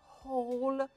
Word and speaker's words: whole: When they arrived arrived arrived they spent and spent the whole silent E بلفظ الـ O باسمها O whole day outside.